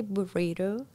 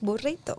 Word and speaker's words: burrito: Spanish language comes up, I try to pronounce it as much as I can in the Spanish accent, right? Mm-hmm. For example, I don't say burrito, I say burrito.